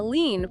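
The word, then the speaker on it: lien: need to understand them a lean pronounced lean is essentially a legal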